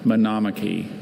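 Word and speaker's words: monomachy: Are there any alternate pronunciations? Just the one. Manomaki.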